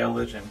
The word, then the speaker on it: Elysian: oh, Elysian rhymes with revision. Okay, Elysian, gotcha.